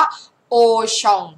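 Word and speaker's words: Auchan: หมด เลย นะ คะ โอชอง โอชอง อ่าน ว่า โอชอง ถูก แล้ว นะ คะ โอชอง ข้าง ล่าง อ่าน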